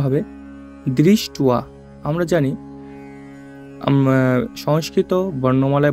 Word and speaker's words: দৃষ্ট্বা: আ আছে, এই জন্য এটার উচ্চারণটা আমরা করব দৃষ্টুয়া। উচ্চারণটা হবে দৃষ্টুয়া তু পাণ্ডবা নিকম, অনুস্বার থাকলে ম, তাই হবে পাণ্ডবা নিকম বুয় ঢম।